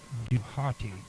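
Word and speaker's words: Djehuty: equivalent of Inky okay the Egyptian pronunciation of d DH WT Y is not fully known but may be reconstructed as duati based on the ancient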